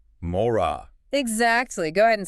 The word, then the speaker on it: מוֹרָה: It's just two syllables. It sounds like this. Mora. Mora.